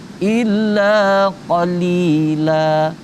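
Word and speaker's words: قليلا: Illa qalila. Nah, huruf qa tadi udah dibahas, huruf qafnya qa. Li, sesudah huruf li ada ya mati di depannya, itu berarti huruf li-nya harus dibaca panjang.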